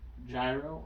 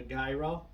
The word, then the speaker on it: gyro: the question here right is it gyro or is it euro well it's gyro it's it's gyro but i'm oh right here no no but i'm from america so i'm gonna pronounce the letters that they gave me it's gyro and then you've got those real douche canoes that call it a guy row yeah i've never met